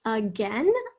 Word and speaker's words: again: And the next word we're going to write is again, again. Ooh, this is interesting. Schwa at the beginning and then gain.